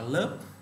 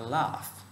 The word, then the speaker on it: laugh: Tiếp theo, từ từ này ta không đọc là lớp, ta đọc là laugh, I laugh that, không đọc lớp nhé.